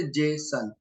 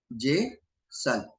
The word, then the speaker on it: JSON: इसको प्रोनाउंस कैसे करते, जेसन, जेसन।